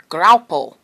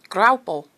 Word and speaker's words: Graupel: And it's a lot of fun to say, especially if you can roll your R's. Graupel.